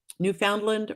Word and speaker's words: Newfoundland: missed I misspelled that Newfoundland rhymes with understand so Newfoundland Newfoundland Newfoundland Newfoundland like we just discovered new land duh it finally clicked